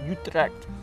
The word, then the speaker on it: Utrecht: Do you know Utrecht? I usually say Utrecht. It's Utrecht. Utrecht. Utrecht. Okay. It's like 10 minutes from it. It's like the suburbs from Utrecht.